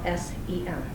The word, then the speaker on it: sen: And the reason that they did is because in the Scandinavian language, the word son is sen.